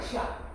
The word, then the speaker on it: 下: 但是上吐下泻，这个就念思亚切。思亚切念什么呢？下，叶的古音念亚。